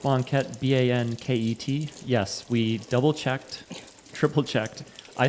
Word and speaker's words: banket: how it's spelled, but I'm fairly certain it's B-A-N-K-E-T, like bank-et.